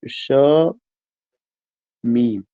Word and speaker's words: शमीम: ये जो शमीम एक शब्द है, इसका जब आप प्रोनाउंसिएशन करते हैं तो ये दो हिस्सों में टूट रहा है, शमीम।